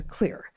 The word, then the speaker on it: Xlear: It's Xlear X L E A R, but pronounced "clear," even though it's got an X right there at the top and no, no C we wash our hands